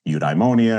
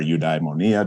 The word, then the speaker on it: eudaimonia: right when I was studying eudaimonia or udai monia depending on how you want to pronounce it and uh went up